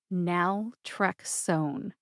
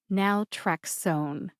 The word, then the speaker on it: naltrexone: source told me that the O in o n e is a long o sound therefore it is pronounced